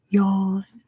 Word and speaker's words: Jan: I heard Jan is yawn.